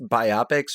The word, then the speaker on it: biopic: So anyway, back to your question, by the way, of is it pronounced biopics or biopics? I pronounce it biopic because it is a biographical picture.